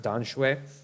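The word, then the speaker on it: Tamsui: One to Tom Sui, as it's called. In Chinese, they pronounce it Dan Shui.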